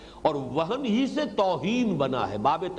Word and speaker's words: وہن: وہن، ویسے یہ کہ تلفظ میں وہم جو ہے میم کے ساتھ، یہ چونکہ ہمارے ہاں عام طور پر لفظ استعمال ہوتا ہے، آپ کو مغالط کرنا ہو، یہ نون کے ساتھ ہے وہن، اور وہن ہی سے